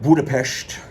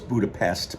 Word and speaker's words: Budapest: factor, where I left Budapest. I always thought it was Budapest, but they pronounce it Budapest.